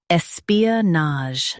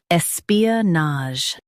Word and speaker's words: espionage: Today we will learn how to pronounce the word shown on the screen. Espionage.